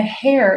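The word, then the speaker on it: hare: her hand and a hair in her bosom. Hair is spelled H A R E like a the type of rabbit.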